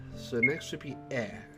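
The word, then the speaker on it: え: This is E, or pronounced I. Not really pronounced I, but you get what I mean. It is the equivalent of the vowel I in English. You pronounce this one as E.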